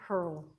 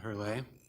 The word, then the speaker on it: Hurl: Madam Speaker, the next candidate is Hurl. you have 5 minutes. Thank you. I first it's pronounced Hurley.